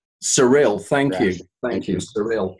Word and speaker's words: Sarill: okay well I said anyway my name is pronounced surreal surreal thank you thank you surreal of course it